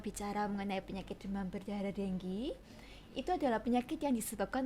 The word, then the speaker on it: dengue: Itu kan tulisannya Ada dengue banyak orang bacanya mungkin dengu dengue tapi kalau secara internasional kita bicaranya denggi denggi Wah saya salah pelapalan